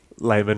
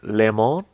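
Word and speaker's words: Leman: tell It's the audience how you pronounce Lehman Russ. Layman Russ. You're wrong. Continue with the It's Tenebrous because he is French, much like my boy Carlos Valois. It is Lemon Russ.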